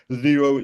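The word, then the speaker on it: Xero: For example, Zero, that's spelled X E R O.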